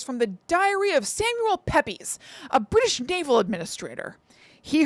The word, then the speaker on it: Pepys: From Mr. Pepys. Or Pepys. It's P-E-P-Y-S. Pepys? Pepys. I am Samuel Pepys. That's like the way Kramer would pronounce that name. You know, like he says Ramirez instead of Ramirez.